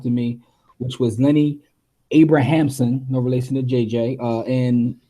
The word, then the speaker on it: Abrahamson: how you pronounce it I was about to say Abrams but it's not Abrams no relation to the JJ um Lenny Abrahamson and um yeah man